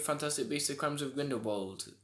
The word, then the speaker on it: Grindelwald: That's what they say it like that in the film. Oh. I was fairly sure it was that. Anyway, but obviously because it's all British and American audiences, they say Grindelwald.